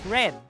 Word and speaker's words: read: the present simple tense i read the manual but do not forget to pronounce it as red to indicate that it happened in the past time basically we use this